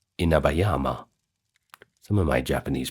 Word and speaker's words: Inabayama: took over the formidable Inabayyama Castle. Sorry, Inabayama.